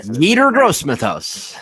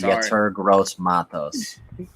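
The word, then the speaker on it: Yetur Gross-Matos: man I think I meter gross Smith us that is not how you say this man's name how do you say his name is gets her gross Matos I had on one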